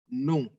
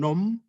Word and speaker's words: non: Non. Non. Perhatikan huruf M tidak diucapkan ya. Bukan nom, tapi non.